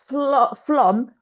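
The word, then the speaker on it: Flåm: There's Flom, so you can take the train between Bergen and Oslo.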